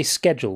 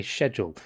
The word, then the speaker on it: schedule: Um and so we don't pronounce it as a hard c.